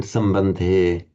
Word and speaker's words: सम्बन्धे: Remember to make the pure A and O. You see, if you're an Italian like Marco, you see, we hear the English trying to pronounce an Italian A as A. No. You see, not like that. So A and O, these pure vowels, as they have in Italian, the A and the O.